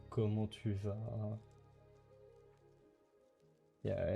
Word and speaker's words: comment: Like saying salut, saying comment tu vas. Yeah, and comment have a T at the end because let's make it hard instead of easy.